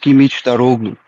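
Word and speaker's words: Kılıçdaroğlu: Yeah, and then just as a side note, the opposition, his name is pronounced Kimic Daroglu.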